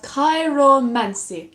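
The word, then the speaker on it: chiromancy: It's called Kairomancy.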